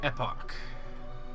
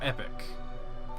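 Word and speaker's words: Epoch: wings of time the epic or epic depending on how you want to pronounce it well then hop aboard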